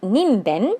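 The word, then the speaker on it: にんべん: It's It's pronounced ninben because ben means it's on the left side of the kanji, and that also means person.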